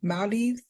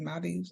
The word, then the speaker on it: Maldives: Oh, Maldives. That I said Oh, girl, Maldives, yes. but they was like, that's not how you say it. It's Maldives or something like that. Yes, I want to go to the Maldives.